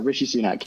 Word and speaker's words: Rishi Sunak: Is it Rishi Sunak? Is that correct? Yeah, Rishi Sunak, yeah.